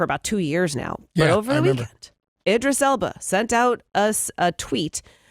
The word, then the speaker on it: Idris Elba: going on for about two years now yeah Idris Elba sent out us a tweet and it showed his picture with the words my name is Elba Idris Elba oh he's doing it two things one he's